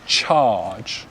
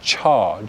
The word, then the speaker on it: charge: the next one so in receipt pronunciation we pronounce this charge charge so the r sound so the jaw just drops cha cha good charge charge good let's try the next one campaign